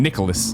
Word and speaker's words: Nicalis: Tony says Nicalis is pronounced like the name Nicholas by employees of the company during streams.